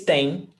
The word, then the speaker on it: têm: Vocês têm. Eles têm. And you see here that você tem, singular, and vocês têm, plural, is the same pronunciation.